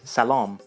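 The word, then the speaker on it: سلام: Hello in Persian is salam, which comes from salam in Arabic. So you notice that the second A sounds a little bit like an O in English, kind of like shalom actually.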